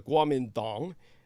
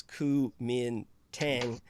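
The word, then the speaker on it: Kuomintang: nationalist party of China which was the guamin dong and the Americans knew them as KU Min Tang this kind of uh anglicized uh pronunciation that Chinese do not prefer the kumintang or kmt which in the romanization that the Chinese prefer Guam and Dong or GMD they are the original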